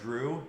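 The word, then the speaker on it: Jrue: My all-time favorite name, there's an NBA basketball player, his name's Drew Holiday. When you say it, it kind of sounds like Drew, but it's spelled J-R-U-E.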